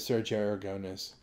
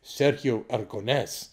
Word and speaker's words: Aragonés: Okay, a lot of people know that I'm a friend of Sergio Aragonés. And isn't it funny we all say it like Americans instead of Sergio Aragonés?